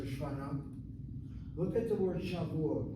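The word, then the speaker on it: שבועות: Look at the word Shavuot. Look at the word Shavuot. I see Sha, I see Vu, I see Ot, I see a long vowel and a closed syllable. It has to be accented.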